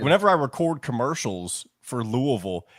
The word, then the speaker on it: Louisville: record commercials for Louisville they tell me to say it like Louisville like not Louisville not like the super redneck way but they want me to say Louisville so it's like kind of halfway in between it's the same thing